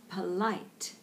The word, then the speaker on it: polite: hand gestures polite and you'll notice the first syllable there is a very neutral vowel just polite because the emphasis is on polite so it's not polite or polite just polite okay we're going